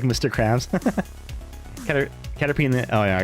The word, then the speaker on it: Caterpie: I pronounce it Caterpie because it's P-I-E. Caterpie.